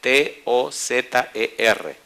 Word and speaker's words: Tozer: y el apellido se escribe T-O-Z-E-R. En español se leería Tozer.